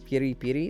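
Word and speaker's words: peri-peri: is yet Peri per Peri Peri they did say it that way per per that's no no there's no D in it it's it's just like per Peri Peri it's like it's the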